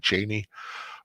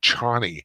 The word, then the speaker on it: Chani: Barbara Tova I thought was a great Cheney, which is how you pronounce it. In the movie they used Chani, and it's not.